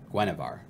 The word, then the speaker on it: Guinevere: It's pronounced Guinevere.